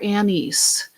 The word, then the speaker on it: anise: side of the page star anise or Anis depending on where you grew up and how you say it it's that spice so